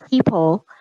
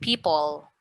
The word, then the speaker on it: people: so this was would be pronounced people. Uh-huh. So you can try to pronounce the L sound at the end. People.